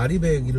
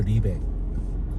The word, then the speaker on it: RE100: 앞에 무슨 얘기를 하다가 아리백이를 물어봐야 되는데, 근데 결국에는 그게 뭐였는지 아세요? 영어로 RE 그 다음에 숫자 100이었습니다. RE100. 근데 이걸 아리백이라고 읽지 않습니다. 공식적인 표현은 리백이에요. 리백.